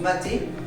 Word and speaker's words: matte: On prononce mater, on s'entraîne à le faire avec deux bras